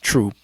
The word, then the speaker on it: Throop: You know, you know, you you you you know it's not uh throop street or throop avenue is troop, you know what I mean?